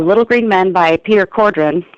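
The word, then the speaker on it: Cawdron: Green Men by Peter Cordon that's spelled c a w d r o n but he swears it's pronounced Cordon you know Australians right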